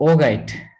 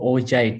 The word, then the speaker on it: augite: Okay, so augite or augite, sometimes it's pronounced as augite, but I prefer pronouncing it as augite. Some people pronounce augite, some people pronounce augite, right?